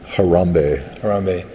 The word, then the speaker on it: Harambe: How do you pronounce his name? Harambe.